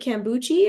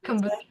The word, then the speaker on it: kombucha: Is it kombuchi or kombucha? I can't remember. I think it's kombucha. Yeah, kombucha.